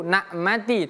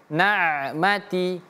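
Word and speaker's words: النَّعْمَةِ: 1 2 3 ulinmati Huruf ain perhatikan jangan sampai kita keliru nak mati tapi naati ain ain ya.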